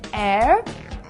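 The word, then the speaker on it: heir: lot of and plenty use and before words that start with the silent h these are nouns like our and air and the adjective honest so we say an hour an air and an honest person do not use an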